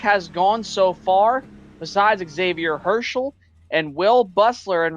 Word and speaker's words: Xavier: And um correction on that name, Xavier, I guess, is the correct pronunciation. No X on the front on the um on